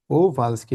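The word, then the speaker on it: Kowalski: ডান পাশে ফাউ কোভালসকি কোভালসকি ডব্লিউ এর মত ডব্লিউ টা এর মত উচ্চারণ হবে কোভালসকি মানে মিস কোভালসকি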